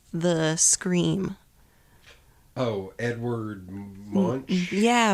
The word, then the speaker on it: Munch: Oh, Edward Munch? Yeah, Munk or Munk. however you say. However you pronounce that.